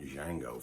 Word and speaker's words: Django: in that some photos the d is silent a legend is born